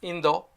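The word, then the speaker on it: インド: example Russia is Rocha in Japanese India is Indo and China is Chugoku I'm going to make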